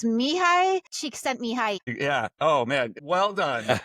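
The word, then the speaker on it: Csikszentmihalyi: So I asked Chachi PT how to pronounce it and this is how you pronounce it. It's Mihi. Cheek sent me.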